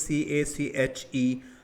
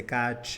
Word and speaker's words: cache: The spelling is C-A-C-H-E, sounded like cache. Second, do not, of course, obvious, I shouldn't say like you don't say catch or catchy or cache. It is correct pronunciation is cache.